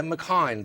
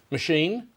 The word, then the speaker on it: Machine: It's not McHine. Well, what's your surname? Machine? Oh, Machine.